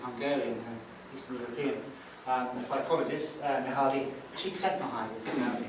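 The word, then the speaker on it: Mihály Csíkszentmihályi: The most compelling sort of description of it I've come across is this, I think it's Hungarian, Eastern European, psychologist, Mihaly Csikszentmihalyi is apparently how you pronounce his name.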